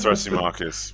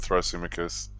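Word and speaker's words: Thrasymachus: our greek pronunciations yet we've got uh thrashy marcus it's throsy marcus we're moving away from throsumicus i'm going to struggle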